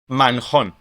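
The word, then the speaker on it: Manjón: Manon. Manon. Ah with a h or pronounced like a h.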